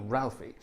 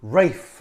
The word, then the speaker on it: Ralph: Now, a lot of people say Rafe Vaughan Williams and give him his posh pronunciation. He hated that. He was Ralph, always Ralph. He never called himself Rafe.